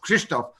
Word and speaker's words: Krzysztof: to make it hard on you, which is pronounced Krzysztof.